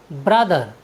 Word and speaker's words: brother: TH का उच्चारण का नियम है, यदि किसी वर्ड में TH के बाद E आए तो हम TH का उच्चारण द करते हैं। जैसे BROTHER, ब्रदर, ब्रदर मीन्स होता है भाई।